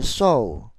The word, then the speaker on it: sew: To protect your finger when you sew. When you sew입니다. S-E-W는 sew로 발음하고 바느질 한다는 의미입니다. 바느질 할 때 손가락을 보호하기 위해서는 thimble이 필요하죠.